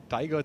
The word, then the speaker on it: Taiga: Well, Nikhil earlier was referencing the fact that Taiga sounds a lot like, when you pronounce it like Tiger.